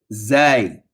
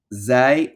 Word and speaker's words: zay: Next letter, zay. Now this is a fairly easy letter. Okay, it's going to be pronounced just like we do the last letter of the alphabet in English, which is what?